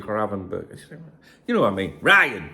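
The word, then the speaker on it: Gravenberch: Like I want to call him Gravenberg. That's it. But people say no, it's actually Gravenberg.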